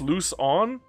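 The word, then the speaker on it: Luzon: Uh, someone from Philippines I met told me Lucon was uh pronounced Lucon. Lucon. Okay, my bad. I thought it was like I thought you had to put a sh on it, but my bad.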